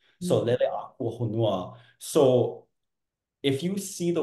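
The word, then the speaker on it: Leleākūhonua: Now, if we pronounce it properly with the accent bars, Leleakuhonua, now it means the watery being, birth of planets.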